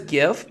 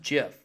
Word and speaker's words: GIF: everybody pretty much says gift but you know technically it's a jiff oh I'm a good guy well court see I know that technically it is pronounced jiff however I understand that